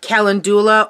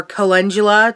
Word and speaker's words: calendula: comfrey and lavender and calendula or calendula depending on how you pronounce it tea tree willow bark st.